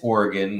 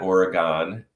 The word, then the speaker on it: Oregon: not the willamette um and it's oregon not oregon um and in the